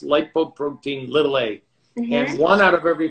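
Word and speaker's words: lipoprotein(a): over and over in the years that it's pronounced lipoprotein little a and one out of every four of us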